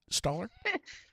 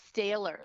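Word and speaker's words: Stahler: Am I saying it right, Staller? No, it's Staler, like Staler. stale bread. That's the best way to remember it, in case any of your listeners want to know how to say my name.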